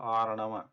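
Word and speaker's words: अर्णव: In Arnava you have Ra, right? We have Ra, and then there is Na was supposed to be there, but for pronouncing Ra, this Ra, which is a trigger letter, the tongue is already there, and instead of forcing it to this Dantya position, we just use that Na, which is already there,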